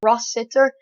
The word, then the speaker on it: Rossiter: in the podcast uh how to pronounce his second name and i'm pretty sure it's ross sitter uh but yeah sorry